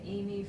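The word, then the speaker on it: Emi: And I'm Amy, but it's spelled E-M-I, or it might be Carol.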